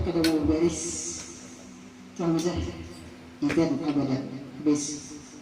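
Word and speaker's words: إذًا: Fala yahtadu idzan abada ini bacanya idzan lah. Siapa yang bertakun ada kawannya idzan bacanya. Idzan abada jangan ida.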